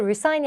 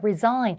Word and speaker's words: resign: 이거 발음도 resign이 아니라 resign.